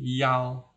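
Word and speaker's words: 一: jelas sekali ya Chi Yao are nah begitu Misalnya ini can Li Yao San ya yaan yaoan ya Nah itu bacanya begitu Di ingat untuk nomor ya ini dibacanya yao ya Yao semua sedangkan dua dibaca a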